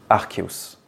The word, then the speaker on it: Arceus: en latin voilà donc ça devrait se dire archeus voilà et j'ai toujours dit Arceus j'étais dans le déniis après énormément de comment